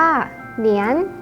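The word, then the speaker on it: 年: คำ แรก นะ คะ อ่าน ออก เสียง ว่า เหนียน เหรียญ นะ ครับ มี ความ หมาย ออก เสียง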